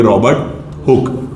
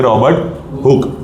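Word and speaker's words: Robert Hooke: लिखने के लिए स्पेलिंग में आप लिखोगे हुकी ताकि आप गलत ना करो और प्रोनाउंस करने के लिए आप बोलोगे रॉबर्ट हुक। क्या बोलोगे? रॉबर्ट हुक।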